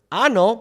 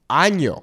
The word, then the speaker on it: año: Many times I hear people use the word ano meaning anus when what they really want to say is año meaning year.